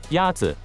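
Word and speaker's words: 鸭子: Yazi is pronounced with a first tone. In Mandarin, there are four tones, which are essential to distinguish the meaning of words. The first tone is a high, level tone.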